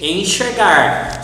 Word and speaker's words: enxergar: Also we have the Z, exemplo, the S, explicar, and the sh, enxergar. So the letter X can be pronounced as sh, S, Z, or x.